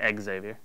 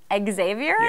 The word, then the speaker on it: Xavier: Xavier and now say make sure to say Exavier Xavier that's not how you say it right and he's going